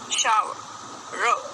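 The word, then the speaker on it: shower: अब र है तो हमारे को इसको साइलेंट रखना है, तो हम शा शा शा शा शाव शाव र शाव शाव। नहाना शावर शावर, र नहीं बोलना, शावर शावर शावर।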